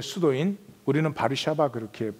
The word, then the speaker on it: 바르샤바: 어 워시 5 그 폴랜드 의 수도인 우리는 바르샤바 그렇게 발음하는 거두어 시료의 있는 그 유대인들을 첨부 잡아가지고